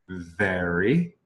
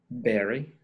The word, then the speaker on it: very: Y entendemos, pero realmente para mejorar su pronunciación en un minuto, solo necesitas practicar la diferencia en very. Very.